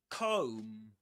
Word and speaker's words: comb: This is again Comb. Comb. The B silent at the end.